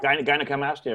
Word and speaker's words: gynecomastia: how do you say that Gina called mastia gynecomastia right gynecomastia and uh the doctor brushed it